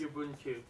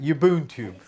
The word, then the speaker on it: Ubuntu: Pronounce it for me, please. Ubuntu. That's it. Ubuntu.